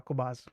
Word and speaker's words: Qobuz: Qobuz sarebbe Qobuz, che si pronuncia Qobuz.